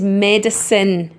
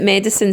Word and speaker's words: medicine: not you and it's medicine we pronounce it medicine so the e at the end of it is basically silent is it's not a